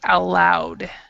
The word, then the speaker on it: allowed: so you would say allowed so this word allow it's allowed L actually is pronounced like this word both of those words are pronounced the same alloud so you if